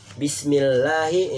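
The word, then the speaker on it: بِسْمِ اللّٰهِ: Bismillahi itu ada mat tobi'inya, lahi lafaz Allah yang dibaca panjang ya.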